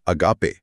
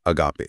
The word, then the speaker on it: agape: पांचवा शब्द है अगापे। ए जी ए पी ई अगापे।